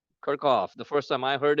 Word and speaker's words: Kirchhoff: In India, we call this as Kirchhoff. It's a German physicist. The actual German pronunciation for this name is Kirchhoff.